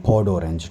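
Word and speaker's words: peau d'orange: उसको फ्रेंच में इन्होंने पॉड ऑरेंज कहा हुआ है, ठीक है, पॉड ऑरेंज। ये यार ये इसकी जो क्या कहते हैं प्रोनाउंसिएशन है वो यही है, पॉड ऑरेंज, ठीक है, पॉड ऑरेंज।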